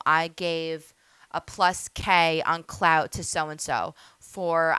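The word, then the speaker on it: Klout: anybody heard of clout it is spelled k l o u t clout go to it right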